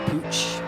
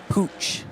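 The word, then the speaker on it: Puig: the scenes thing here I looked how to pronounce Jose P Poo's name p UI G and I wasn't sure how to pronounce it a Spanish name cuz there used to be a tennis player called Monica P but she was uh Pur tan so she pronounced this P but apparently you pronounce it as pooch in Spain so if anyone from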